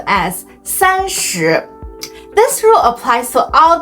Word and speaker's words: 三十: 30 the format is Sun plus so it's pronounced as sanchu this rule applies to all tense such as